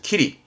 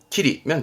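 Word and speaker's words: 霧: 키리, 키리면 되세요. 다음 요거는 요것 때문에 발음은 로, 길로자 때문에 길에 그죠?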